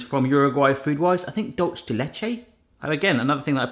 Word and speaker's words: dulce de leche: I think dulce de leche. Again, another thing that I probably not pronounce right. Dulce de leche. Dulce de leche.